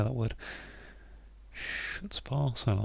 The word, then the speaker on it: chutzpah: Cabin hut. Chut. Chutzpah, I think is how you say that. I don't know. I've already pronounced it very. So, hut spa. It's the sound like we're going for there.